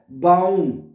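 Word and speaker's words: Baum: है बाउम ठीक है बे के आगे क्या आ रहा है आ तो बे आ क्या बन जागा बा बाउम ठीक है ए को हमने आ पढ़ना है ठीक है इस वजह से बाउम हो जाएगा ये बाउम बाउम का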